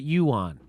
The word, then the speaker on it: yuan: online too you on you pronounce it yuan so saudi arabia considers